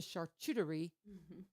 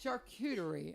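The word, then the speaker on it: charcuterie: Thursday the 24th starting at 11:30 with the charty did I say it right so close so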